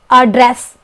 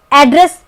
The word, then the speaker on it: address: उच्चारण होता है ड वही अड्रेस इसमें भी दो डी है लेकिन इसका उच्चारण एक डी का उच्चारण होता है और ड्रेस अ ड्रेस ब्रिटिश इंग्लिश प्रोनंसिएशन बोलते हैं और अमेरिकन इंग्लिश प्रोनंसिएशन में यानी उच्चारण में एड्रेस बोलते हैं जो हम ज्यादातर प्रयोग